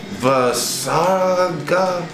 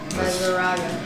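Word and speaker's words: Vaseraga: What's your name? Vasarga? Vazurga. Vazuraga. Yeah, that's how you say it.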